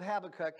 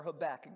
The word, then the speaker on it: Habakkuk: later but you know in the book of habakkuk as you or habakkuk depending on how you pronounce it in chapter number one basically havoc